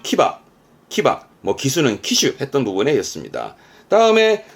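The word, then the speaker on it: 騎馬: 발음은 키바.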